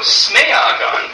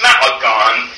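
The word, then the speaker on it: smēagan: But also Smeagon, or actually it should be pronounced Smaagon, Smaagon in Old English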